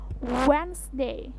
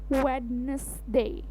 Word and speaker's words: Wednesday: pakai yang sebelumnya ya jadi hanya terdiri dari dua suku kata saja bukan tiga suku kata jadinya wens day when day when Day bukan Wednesday Oke one two three go